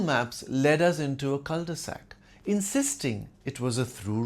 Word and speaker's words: cul-de-sac: Google Maps led us into a culde-sac, insisting it was a through road. His theory led into a philosophical culde-sac with no answers in sight. It's originally a French phrase pronounced cud sack literally meaning bottom of a sack.